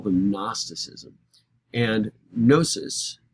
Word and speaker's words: gnosis: call them gnosticism and gnosis is the greek word starts with a silent g g-n-o-s-i-s is the greek